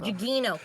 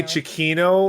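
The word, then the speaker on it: Gugino: Carla gugo Carla Cho I never can say it right Carlo g g Gino Chino that's it yeah jino I always want to say Chino like the composer director and they're not related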